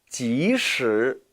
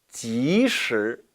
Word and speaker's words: 即使: 即使 이 단어는 발음에 주의하셔야 해요. 왜냐하면 바로 이 단어와 혼동이 될 수 있기 때문입니다. 따라 읽어보시죠. 即使 반면에 이 단어는 其实 이 其实는 도금을 하면은 기실이지요.